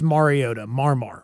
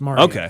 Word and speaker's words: Mariota: And Marcus, is it it's Mariota or Mariota? I know that he was very particular about how to pronounce that. Mariota. Okay. Just think about like Marcus Mariota. Marcus Mariota. Not Mariota.